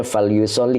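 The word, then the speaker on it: فليصل: fi'il mudhori ya Oke Jadi dibacanya falyusoli Karena ada tasdid ya susah bacanya kalau tasdid dengan sukun itu enggak bisa nyatu maka dibaca kasr itu untuk memudahkan qiraat maka hendaklah salat rakatnya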